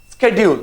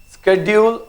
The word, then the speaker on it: schedule: tsunami next word is schedule now mind you there are two things how you pronounce it schedule or schedule your your choice you know a formal